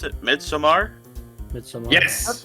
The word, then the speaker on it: Midsommar: What about how to pronounce it? Midsommar? Midsommar.